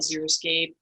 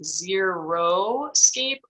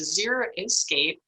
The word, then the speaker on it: Xeriscape: So let's briefly talk about Xeriscape. Xeriscape, it comes from the Greek word xeric, which means dry. Some people mispronounce it as Xeroscape, and to me that means a no landscape, whereas a Xeriscape can be quite colorful and diverse and attractive.